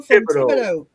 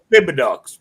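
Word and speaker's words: Thibodaux: I'm Boudreaux Boudreaux from from Thibodeau. Thibodeau. Now see, if you're not from here and you say it, you can also pronounce it as Thibodeaux. We know what you're talking about.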